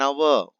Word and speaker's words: hour: He returned after an hour. Hour H is silent. So we have to say an hour.